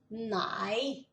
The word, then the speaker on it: nei: Lembra que a soma do E mais I fica ai. A pronúncia, né? Então, ja é um J, mas tem um som de E. Lembra disso? Ja, nei.